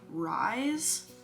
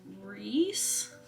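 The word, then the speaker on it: Rhys: Vivian and okay so apparently I say his name rise r h y s but my friend told me that it's Reese some people say that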